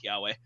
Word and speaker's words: Kiawe: bit to trigger figure out that it was pronounced kiawe um but um aloicious the the the I